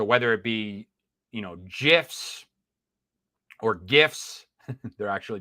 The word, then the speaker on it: GIF: my books so whether it be you know GIFs or gifts they're actually pronounced argue with me on that change my